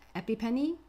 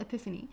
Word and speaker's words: epiphany: read this out as epipenny like she was epi epipenny what is that uh i think it's called epiphany although um there's been a